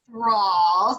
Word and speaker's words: Thralls: You guys, this is Thralls. Did I say it right? You did.